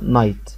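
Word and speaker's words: night: جي اتش، قلنا جي اتش ما بتتنطقش. الكلمة دي اسمها ايه على بعضها؟ نايت.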